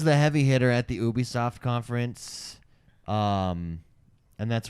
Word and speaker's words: Ubisoft: now this was the heavy hitter at the Ubisoft conference um and that's right everyone that tries to connect correct me by saying Ubisoft suck it it is Ubisoft uh is it Jeff or GIF for you